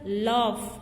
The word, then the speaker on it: laugh: Laugh. Right. Here GH is pronounced as F.